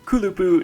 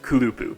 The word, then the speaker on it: kulupu: kulupu soni oh and that's kulupu not kulupu in toki pono the first syllable of a word is the one that's stressed no matter how long it is that's why it was